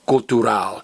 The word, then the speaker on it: cultural: Spanish, but in Spanish, it's pronounced cultural. You stress the very last vowel, because it's what I call a lizard word. Remember, if a word in Spanish ends in L, Z, R, or D, the very last vowel gets stressed.